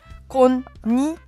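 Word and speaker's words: こんにちは: Ça se prononcera wa.Mais quand vous allez le taper sur votre clavier, c'est H-A. Konnichiwa.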